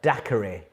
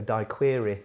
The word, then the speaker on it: daiquiri: main spirit in the daiquiri it's rum rum is your answer there I think I called it a die query once didn't know how to say it properly question 38 Malaysia has